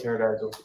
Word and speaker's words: pterodactyl: i still go with pterodactyl i'd say triceratops because that's my goddaughter's favorite so now there you go why can't you hear a terry doctor go to the bathroom because the p is silent i was seconds away